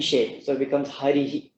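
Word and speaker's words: हरिः: Then it'll be pronounced harihi, like that. That E shape remains, but you release the breath through that E shape, so it becomes harihi, like that.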